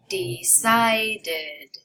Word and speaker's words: decided: Final ED is pronounced id after T and D sounds, only these two. The sound id adds a whole syllable to a word.